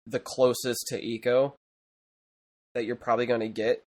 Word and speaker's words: Ico: yeah I mean I I grew I grew up St I go but then I learned it was Eco but um yeah like